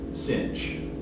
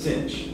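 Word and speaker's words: sinh: already mentioned is denoted by s-i-n-h and usually pronounced the shorthand instead of hyperbolic sign the shorthand is uh cinch i don't it doesn't have a c in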